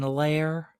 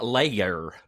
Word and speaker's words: layer: How many syllables in that word? Marine lair. Lair. Lair. What does that mean? Like for evil geniuses? No. Isn't that what it's called? The marine... It's called the marine lair. Like the dense clouds that go over... Are we using the two-syllable word layer? Yes, the marine layer.